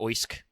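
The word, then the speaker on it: Oisc: If he existed, Oish or Oisk, which is spelled O-I-S-C, was an Anglo-Saxon king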